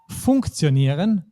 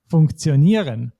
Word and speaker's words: funktionieren: And with these ihren verbs, you can notice we don't say funktionieren, but we say funktionieren. And we don't say diskutieren, but we say diskutieren. So the stress is not on the first syllable either.